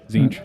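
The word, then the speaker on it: Tzeentch: I'm drawing a space right here for the Sneech? Chaos God. Zinch. Thank you. Good lord. It's spelt weird.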